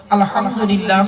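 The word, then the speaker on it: الحمد لله: নিয়ত বেঁধে দোয়া সানা পড়ে আপনি বলেন আলহামদুলিল্লাহ রাব্বিল আলামিন। আলহামদুলিল্লাহ, হাই হটি গলার ভিতর থেকে হেটা উচ্চারণ হবে।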